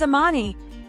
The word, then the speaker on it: Ammani: She introduced herself saying, "My name is Ammani and it's actually pronounced."